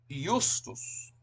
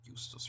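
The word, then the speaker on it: iustus: The J was pronounced like we pronounce a Y, like a Y. There's a lot of derivatives, by the way, of the word justus, right?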